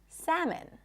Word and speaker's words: salmon: The L is also not pronounced in the word salmon.